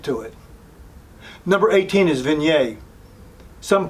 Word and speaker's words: Viognier: Number 18 is Viognier. Some pronounce it Viognier.